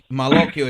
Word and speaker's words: Malocchio: So Malocchio, it's not Maloc, it's Malocchio.